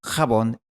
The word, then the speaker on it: jabón: Así que estas 3 palabras dejaron de pronunciarse Mexico, chabón y tijeras y empezaron a pronunciarse México, jabón y tijeras.